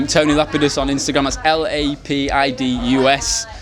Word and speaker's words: Lapidus: it's tony lapidus tony lapidus on instagram that's l-a-p-i-d-u-s lapidus it's pronounced not lapidus nothing like that i said